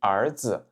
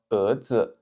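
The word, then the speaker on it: 儿子: l'heure on a vu le mot fils en chinois qui se dit ardz ardz. Mais si vous êtes à Taiwan, peut-être que vous entendrez plus un son comme erdz erdz. Donc en fait, ils prononcent ça un peu comme un er c'est-à-dire ils mettent vraiment pas l'accent sur le le R final le R c'est plutôt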